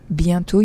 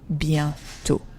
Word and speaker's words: bientôt: Bientôt, you see, I don't pronounce the last T. Why? Because we saw that yesterday. There's no I after to make you pronounce the T. So it's just bientôt, soon.